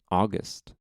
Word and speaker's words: august: So there's 2 pronunciations on Merriam-Webster. One is August, which probably isn't the common one for the adjective, but the one that they say is it's august, and it means being grand and noble.